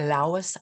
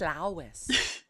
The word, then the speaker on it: Lois: Giver by lais Lowry I think it's Lois isn't it I don't know but I like it it is Lois listen I saw an interview and she said it's pronounced Lois she really really no oh my God you're something else can you imagine it's pronounced lais lais that's dear ever